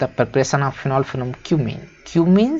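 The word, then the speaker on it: cumene: मत पढ़ लेना भाई, ये क्यूमीन है। बहुत सारे लोग समझ रहे हैं क्या क्या पढ़ लेते हैं, है ना, तो इसको वही पढ़ें जो इसका प्रोनाउंसिएशन है।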